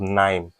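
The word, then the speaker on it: KNIME: you're not coding anything then there's something called nime it's spelled k-n-i-m-e you can do end-to-end data science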